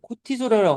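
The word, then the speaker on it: cortisol: 그 호르몬, 스트레스 호르몬을 조절하는 역할을 한다는데, 코티솔이라고 하지 않을까요? 영어에서 르 발음을 안 하는데.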